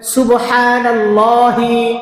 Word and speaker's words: সুবহানাল্লাহি: বলেন সুবহানাল্লাহি। হা উচ্চারণ করে বলবেন হা উচ্চারণের স্থান হল আমাদের গলার এখানে একটা উঁচু জায়গা আছে এই জায়গাটা এখান থেকে হা উচ্চারণ হয় বলেন সুবহানাল্লাহি